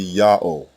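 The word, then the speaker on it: יהוה: The only consonant heard in God's name is the first letter ya.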